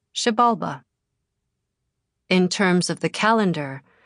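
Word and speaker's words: Xibalba: Also in Mayan pronunciation X is pronounced like the English sh. For example, ishul is pronounced ishul and shabalba is pronounced shabalba.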